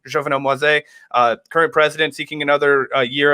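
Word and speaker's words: Jovenel Moïse: Jovenel Moise, I believe is how you pronounce his name. Jovenel Moise, current president, seeking another year of his term,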